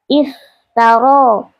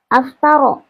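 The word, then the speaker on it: افترى: Membacanya mulai dari hamzah wasfal, maka hamzahnya dibaca kasrah. I iftaro iftaro laisa aftaro ya. bukan aftaro atau uftaro tapi iftaro ya hamzahnya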